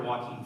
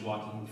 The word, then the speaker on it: Joaquin: the observation that the actor Joaquin Phoenix's first name also sounds like the word walking and so we just collected screenshots of every instance in which walking Phoenix walked in his